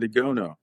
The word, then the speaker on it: Igono: Did I pronounce that correctly? That's pretty good. Igono.